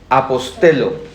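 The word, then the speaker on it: ἀποστέλλω: p o s t e l l o apostelo que en español es la palabra apóstol pero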